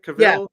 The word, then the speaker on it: Cavill: Is that how you pronounce his name? Cavill.